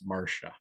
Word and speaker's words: Marcia: was informed by Marsha that in fact the pronunciation is Marsha.